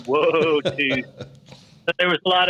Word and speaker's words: votus: this came up, and we had the song Votus, and we pronounced it that way. And he's like, this would really be Wotus.